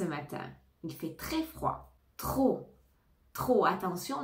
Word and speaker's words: trop: il fait très froid trop trop attention ne prononce pas le P trop ça indique une